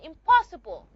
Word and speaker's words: impossible: The p sound which is a bilabial sound is going to affect the nasal sound n. And it's not going to be pronounced na anymore. It's going to be a m a bilabialian nasal just like the p which is bilabial.